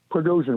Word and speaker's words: Prigozhin: But anyway, that plane crash in Russia, which I'll try to say his name, Yevgeny Prigozhin or something? Prigozhin, right.